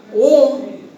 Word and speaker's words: worm: হোয়ার প্রশ্ন আছে পরীক্ষার সময়, where from the ওম, WORM, ওম মানে পতঙ্গ, উচ্চারণটা কিন্তু ওম।